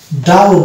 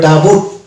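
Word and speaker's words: doubt: silent বলবো letter বলবো যদি এটা আমরা উচ্চারণ করতাম তাহলে কিন্তু এটা হয়ে যেত ডাউ উভড ডাউড বকে যদি আমরা টানি বয় টয় যদি যুক্ত করি তাহলে শব্দটা হয়ে যাবে ডাউট ডাউটড ডাউ উভড কিন্তু ডাউড বলে কোন শব্দই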